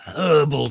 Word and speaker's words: herbal: neither here nor there thank you for not pronouncing the H in herbal thank you I've never done it I know what you need is some herbal tea no no I'll